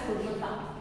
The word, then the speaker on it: Kolkata: Okay, you have to pronounce it as Kolkata.